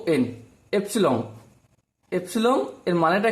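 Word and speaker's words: epsilon: এই সিম্বলটার নাম হচ্ছে এপসিলন। কি বললাম? এপসিলন। চলো এর স্পেলিংটা একটু লিখে দিই। আই বিলংস টু, এটাকে উচ্চারণ করার সময় বিলংস টু বলা হয় এ সেট।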